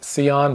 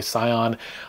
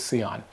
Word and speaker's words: Sion: here by the way he said it is pronounced seon but they don't care if you say Scion I'm going to say